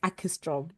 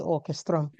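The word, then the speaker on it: Åkerström: Um, Aestro. I hope I've said it right. I've been practicing. No, you did good. You did good. It's Orchestra. Yeah. Oh, orchestro.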